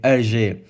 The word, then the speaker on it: Hergé: his alter ego name Hergé, from the French pronunciation of his reverse initials RG.